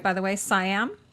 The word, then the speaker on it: Siam: right by the way siam like king of siam uh yes siam is the western in thailand they say seattle and thailand okay i'm